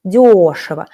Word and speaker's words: дешево: You see how we change the stress. Дешевые, дешево. Стоят дешево. So the adverb дешево, how дешево, adverb used with verbs will be with the first syllable stressed, дешево.